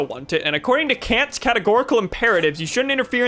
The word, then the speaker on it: Kant: It's pronounced Kant.